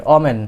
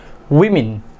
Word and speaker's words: women: আমরা ছোট সময় থেকে শিখে আসছি যে WOMEN এটার উচ্চারণ হবে কি? ওমেন, বাট এটার কারেক্ট প্রনাউন্সিয়েশন ইজ উইমেন।